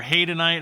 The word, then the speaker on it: hadanite: we we've got doline uh hadanite or henite however you want to pronounce it I pronounce it hadanite uh this is by